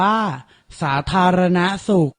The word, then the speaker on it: สาธารณสุข: ปรีชา อ่าน ว่า พระ ปรีชา สาธารณสุข อ่าน ว่า สาธารณสุข เกษตรกรรม อ่าน ว่า เกษตรกรรม สัมพันธไมตรี อ่าน ว่า สัมพันธไมตรี